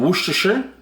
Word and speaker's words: Worcestershire: We've got some Worcestershire. Whoosh. I pronounced it correct this time, I think, boy.